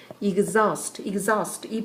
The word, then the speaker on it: exhaust: 완전히 지치게 만드는 원래 exhaust 발음 조심하시고요. exhaust.